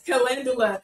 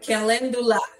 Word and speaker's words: calendula: Yes, calendula. Thank you, T Good. Thank you. Oh my gosh, that is too funny. I can't believe I didn't know how to pronounce that. Calendula.